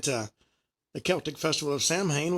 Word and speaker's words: Samhain: The origins of Halloween actually trace back, as I said, to the Celtic festival of Samhain, which actually is pronounced Samhain, Sowin, celebrated on October 31st.